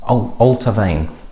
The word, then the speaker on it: Allt-A-Bhainne: time sequence oh honey it's altar vein is the pronunciation and it's the distillery's